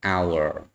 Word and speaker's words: hour: ខ្មែរយើងហ្នឹងបាទជាសំឡេងជួនជនៈឯងអញ្ចឹងបើយើងប្រើ a ហ្នឹង តែឡើយយើងបន្តទៅលក្ខខណ្ឌពិសេសមួយនេះគឺ sometimes letter h is silent មានន័យថាជួនកាលទៀតតួអក្សរ h គឺស្ងាត់គឺអត់មានសំឡេងបើដោយសារតែអក្សរ h